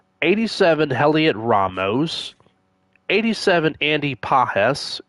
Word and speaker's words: Pages: 87 Heliot Ramos 87 Andy Pahes. It's pronounced Pahes not pages.